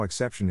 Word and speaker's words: exception: is in this case the accent is in the second syllable corresponding to September below are other ways to pronounce it now let's see how exception is used in real